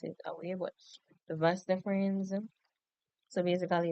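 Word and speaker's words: vas deferens: So basically the vas the vas difference we always produce it we always pronounce it that way but the vas deference so basically it's a muscular cube that carries sperm from the epidermis.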